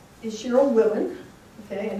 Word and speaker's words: Wilen: here and um so my name is Cheryl Willen okay and it's spelled w-i-l-e-n and then let's see which volume